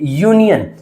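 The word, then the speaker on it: union: उसी प्रकार से यूनियन। यूनियन में क्या है हमारा? यू हमारा वोवेल है। लेकिन साउंड कोसोनेंट की इसलिए हम लोगों ने यूज़ कर लिया ए।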